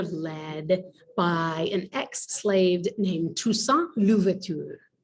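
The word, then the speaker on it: Toussaint: by an ex-slave named tusa tusa is t o u s s a i n t in english it looks like two saint t o u s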